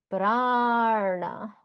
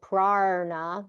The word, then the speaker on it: prana: It sounds like to people that I'm saying prarna, but I'm not saying prarna. It also sounds like that when I say tardasana. Sounds like I'm saying tardasana, but I'm not. I'm not pronouncing an R sound.